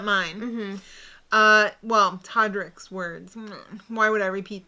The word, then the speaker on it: Todrick: between us so toddrick why are you using todderick i don't know because it's it's todrick he just pisses me off i'm sorry i don't know but i have to add an extra syllable because i'm extra angry well anyway they hung